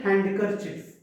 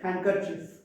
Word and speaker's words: handkerchief: So silent letter D has got certain words like sandwich, Wednesday, handkerchief. We don't say handkerchief. We should say handkerchief.